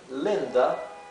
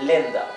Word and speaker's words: Linda: The name Linda is pronounced in between of E and I, right? Así que el nombre Linda, aquí la I se pronuncia como algo intermedio, un sonido intermedio entre lo que sería una I y una E, ¿bien? No es Linda, ni tampoco es exactamente Lenda, es Linda, Linda, ¿ok?